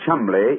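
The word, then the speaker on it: Cholmondeley: reason to know that the name chumbley is in no way pronounced the way it is spelled no joy never thought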